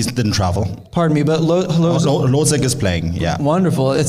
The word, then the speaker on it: Hložek: Adam Hložek, I apologize for the pronunciation.